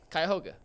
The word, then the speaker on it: Cuyahoga: But it's Cuyahoga.